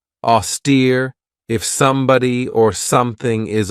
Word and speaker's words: austere: one right here auster this has two syllables and the stresses on that second syllable with that long e sound AER if somebody or something